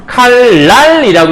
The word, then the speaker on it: 칼날: 그러니까 이때의 발음은 칼 뭐가 될까요? 니은이 리을로 해서 칼날이라고 해야 되겠죠?